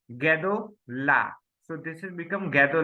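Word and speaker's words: גדול: So it pronounced like gadol.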